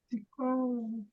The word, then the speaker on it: psicólogo: Por exemplo, ó, qual é a sílaba tônica de psicólogo? Psicólogo. Então, qual que é? Vai, Ros. Você chamou certinho. É o psicólogo. Então, qual que é a forte? Có. O psicólogo.